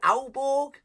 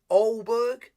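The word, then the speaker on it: Aalborg: okay it's au bo is it auborg because he's also said you don't you do not say the g says olberg i tried i'm trying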